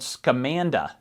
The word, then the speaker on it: Scamanda: It's called Scamanda, or Scamanda. Scamanda. However you want to pronounce it. It should be Scamanda based on the story.